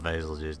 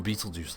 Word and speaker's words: Betelgeuse: It's spelled basil juice. No, freaking, oh, no, it's not basil juice. No. No, too many nightmares of Betelgeuse invading. It's more Beetlejuice like the planet.